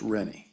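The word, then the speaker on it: Rinne: Last name is spelled R-I-N-N-E. R-I-N-N-E, pronounced Rennie. Rennie, correct.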